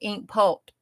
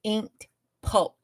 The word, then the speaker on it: Inked Pult: That's what Miss Ava with My Brainy Mess, and Cheryl with Ink Pult. Now I have to say her name, Inked Pult, or it doesn't sound right. That's what they told me.